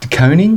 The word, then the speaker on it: De Koning: De Koning? De Koning. Well, I've heard Carlton fans pronounce Carlton it the other fans, way.